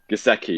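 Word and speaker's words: Giesecke: was Johan Gazai, I don't know how to pronounce his surname, Gazai, who is advises the World Health Organization, a very influential. Giseki, yeah, thank you so much.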